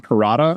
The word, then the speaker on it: Perrotta: So the book that the first season of The Leftovers was based on was it Tom Perrotta? Yeah. Am I pronouncing that right or remembering that right?